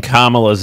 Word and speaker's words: Kamala: It is pronounced comma, not semicolon, comma, like the punctuation mark, a la Harris.